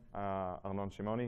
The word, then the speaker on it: Arnon Shimoni: So I'm Arnon Shimoni. You pronounce it correctly, which is respect.